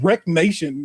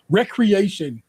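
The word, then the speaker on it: Wreckreation: Wreck Nation, no, Recreation, but spelled like a wreck, a car wreck was another racing game this year.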